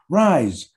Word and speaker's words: Rice: You pronounce it Rice, right? Rise, as in rise and shine.